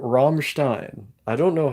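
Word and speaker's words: Rammstein: imagination this is true like room roomin but pronounce the ROM as harsh as possible romstein I don't know how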